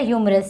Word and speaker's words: humorous: Okay, ह्यूमरस, HE silent there, ह्यूमरस.